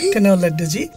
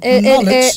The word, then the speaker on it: knowledge: Kanoledji. Okay. Tale jodi silent letter sob amra uchcharon kortam tahole ei ghotona ghot. Keu amader English bujhto? No. No one in the whole world. So, it will be knowledge.